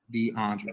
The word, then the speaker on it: DeAndre: question was for DeAndre my name is pronounced DeAndre okay okay I'm just making